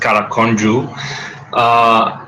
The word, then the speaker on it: Karakondzhul: So my name is pronounced Karakondzhul, and my real name is.